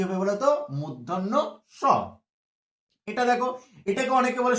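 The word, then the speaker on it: মূর্ধন্য ষ: পেট কেটে দেওয়ার জন্য একে বলি পেট কাটা স, পেট কাটা স। ছেলেরা যাতে সহজে মনে রাখতে পারে, কিন্তু না বন্ধু, এর নাম পেট কাটা স নয়। ঠিক আছে, ব্যাকরণ একে বলে কিন্তু মূর্ধন্য স, মূর্ধন্য স।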